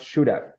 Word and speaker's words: should have: This combination, it's pronounced should have. Ready? So it's like should have with F. Yeah, that's the pronunciation of that combination.